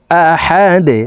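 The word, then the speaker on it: أحد: হা দাল জবর হাদে এখানে আবার দাল কলকুলার হরফ যেহেতু তাই এ দালকে নিচের দিকে ধাবিত করে সাকিন করতে হবে আহাদে ধাক্কা দিয়ে উচ্চারণ করব আহাদে কুলহু আল্লাহু আহাদ কুলহু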